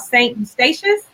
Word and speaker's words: St Eustatius: You're from a place called St Eustatius. Am I saying that right? Yes, you said it right.